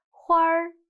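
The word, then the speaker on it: 花儿: Now, 跟我读这儿画儿门儿花儿 Let's see more examples.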